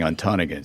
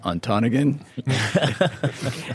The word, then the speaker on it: Ontonagon: I had actually been mispronouncing it. I was saying Ontonagon. So she said two things. First of all, it's pronounced Ontonagon.